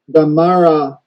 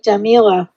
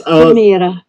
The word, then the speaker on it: Damira: So, is there anything for the Damara saying that it is in period? You mean the Damira, the first name? Yes. Damira. Your pronunciation is much better than mine.